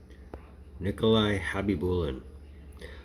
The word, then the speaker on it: Khabibulin: Nikolai Khabibulin. I've always wondered why the K in his name is silent.